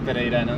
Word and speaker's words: pereiranas: Y las pereiranas más.